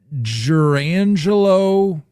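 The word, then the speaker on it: Jurrangelo: So you're asking me to pronounce the name of the switch pitcher in the minors. Jurangelo.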